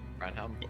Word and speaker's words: Barnum: How do you say it? Barnum? Barnum. Barnum. Barnum. As in Barnum and Bailey? Barnum, got it.